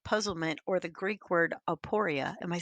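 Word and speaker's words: aporia: a state of puzzlement or the Greek word aporeia.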